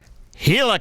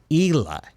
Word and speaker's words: Hila: alternate you got an alternate here down here hila clim which by the way did you guys know that hil's name is pronounced Ela Ela the H is in silent it's supposed